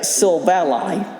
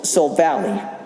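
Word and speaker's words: Silvally: second to evolution uh sylva ally which i've always pronounced it as seoul valley but it was it's actually derived from the silver and ally okay uh yeah and then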